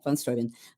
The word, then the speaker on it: Steuben: Is this, how do you pronounce it? Is it von Steuben? Steuben. Steuben. Steuben. Yeah, von Steuben.